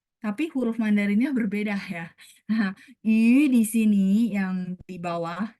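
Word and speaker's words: 鱼: Nah, yu itu dia sama bunyinya dengan yu. Makanya kalau belajar bahasa Mandarin, oh iya, yu ikan sama ini bacanya sama ya.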